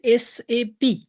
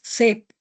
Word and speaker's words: SAP: So first word is SAP. Okay? We have to pronounce SAP. Okay? It's a three words. It's not a single word. Okay? It's a not shape. Okay? It's a SAP. Three words.